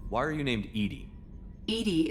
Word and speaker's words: EDI: are you named Edie Edie is the phonetic pronunciation of EDI that is an acronym for enhanced defense intelligence okay uh where exactly